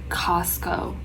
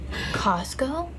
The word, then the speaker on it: Costco: Like oh, Costco. I think Costco, okay. I grew up saying like I grew up with the T being silent, like completely silent. Costco?